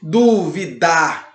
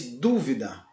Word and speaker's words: dúvida: Você não diz duvidar, você diz dúvida.